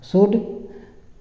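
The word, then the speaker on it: should: सकता था सकता था शड एस एच ओ डी शुड तो य साइलेंट रहता है शड शड मतलब चाहिए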